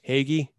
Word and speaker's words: hoagie: eat an italian italian hoagie every day uh agree the only thing i'm going to correct you on is it's pronounced haggy eggy well that's not